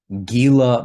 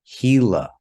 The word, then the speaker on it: Gila: And in that case, we do not say Gila monster. We say Gila monster because in Spanish, the G sometimes has the English H sound, and this would be an example of that.